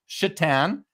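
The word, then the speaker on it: Šatan: one you remember Miroslav chatan Josh Satan of course yeah Satan this guy's last name is spelled s a t an yeah like Satan but it's pronounced chitan and uh picked up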